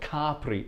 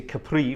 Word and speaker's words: Capri: here we are um it's actually called cpri if you come from Italy in in English we say Capri for some reason but it's cpri is the pr correct pronunciation um but anyway here